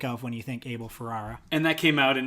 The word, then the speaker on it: Ferrara: the mid-90s, and Conan O'Brien said Ferrara. Did he? So I think that's how it's pronounced. Ferrara. But I've always said Ferrera.